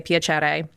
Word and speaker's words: Piacere: Italian like when you meet someone you say piachere and so my concept is I want to